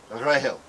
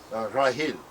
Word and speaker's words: Rachel: The original pronunciation of Rachel in all the Semitic languages sounds almost identical to Grail, Rahel, Rahil.